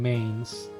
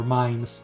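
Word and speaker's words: Mainz: need to do in Mains or mines rather sorry it's hard to go with the right pronunciation it hurts me a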